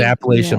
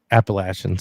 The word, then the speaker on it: Appalachian: old just put that just so you know it's Appalachian appalachin sorry you say it wrong there they know you're a visitor and you might get